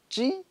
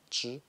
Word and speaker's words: zhi: Donc lui, c'est pas ji, c'est pas zhi, c'est pas ji, c'est zhi. Ça prononce d'un bloc, en entier quoi. Ça, ce son-là, ça prononce zhi, ça prononce zhi.